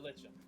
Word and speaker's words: lichen: moss yeah basically i'm pretty sure it's a lichen that's how it's said i don't know it's like him yep yep it's spelled legend that's probably why i thought it was pronounced that way because like i read it as it's i read it as it says legend just sounds like a